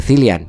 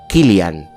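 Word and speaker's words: Cillian: de los Piky Blinders, que no se dice Cilian, que lo he mirado, se llama Kilan. Killian Murphy de los Piky Blinders.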